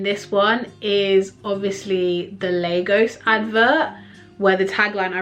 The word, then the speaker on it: Lagos: why why do they why do americans pronounce it largos like that's so weird lagos like i just think